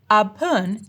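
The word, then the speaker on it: แอปเปิล: But to pronounce it correctly, we'd have to note that the first syllable should be pronounced in a high tone and the second syllable in a falling tone.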